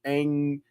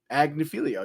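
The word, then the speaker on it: Agnifilo: The defense led by Mark Angilio, Agnilio, yeah, that's how you say it.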